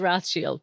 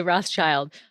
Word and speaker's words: Rothschild: or rochelle every night so technically it is rothschild but all of us americans are i guess canadians um actually say rothschild but yeah technically it is rossfield yeah it